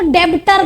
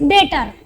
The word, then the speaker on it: debtor: पहले तो डेबिटर गलत है, इट्स डेटर, बी is silent, ठीक है।